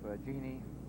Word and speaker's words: Jeannie: he and his wife jeannie that rhymes with beanies i get that one